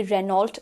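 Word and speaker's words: Renault: सो यहाँ पर we need to remember it's नॉट रेनॉल्ट, इट्स रेनो। रेनो इज the correct pronunciation.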